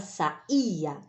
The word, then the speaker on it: saía: primeira acertou né porque a palavra sai a ela tem um acento no e é a tônica é a sílaba tônica da palavra saía tá e tem acento certo